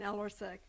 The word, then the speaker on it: Ellersick: The next person is going to be Ellersick. Ellersick. It's German, so don't be pronounce it the way it's spelled exactly. My name is Ellersek, and I live in